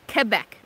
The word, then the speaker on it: Quebec: Yeah, you do pronounce it Quebec.